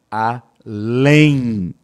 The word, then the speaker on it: além: Só que, quando eu pronuncio essa palavra, ó, além, lém. Ué, Boris, o que aconteceu? Eu tenho aqui, pessoal, 4 fonemas, tá? Por quê? Porque esse M aqui, ele se torna um I.